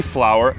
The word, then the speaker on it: flower: Ele perguntou: Seth, existe alguma diferença na pronúncia de flour e flower? Não, nenhuma diferença entre flour de farinha e flower de flor.